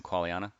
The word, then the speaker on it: Qualiana: Qualiana?